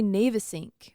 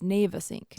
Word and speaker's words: Navesink: I want to say Navesink, which I think is an acceptable pronunciation, but then I saw a video from somebody who actually lived in New Jersey, and it's, wait. Go to New Jersey again? It's Navesink.